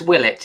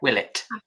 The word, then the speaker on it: Willett: Can you pronounce it for me? Yeah, it's Willlet. It's Yeah, Willlet.